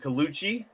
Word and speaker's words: Colucci: you go ahead I know I'm gonna say your last name wrong I'm gonna pretend that I know it's kuchi better the money dude perfect Matt Perfect all right and